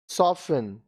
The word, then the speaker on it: soften: अब देखिए यहाँ पे T साइलेंट. Hasten, जल्दी करना. Hasten, जल्दी करना. Listen, सुनना. Listen, सुनना. Often, प्राय. Often, प्राय. Soften, कोमल करना.